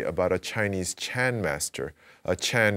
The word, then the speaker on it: Chan: Chan is the Chinese pronunciation of sun. Chan, sun, and Zen are basically the same word.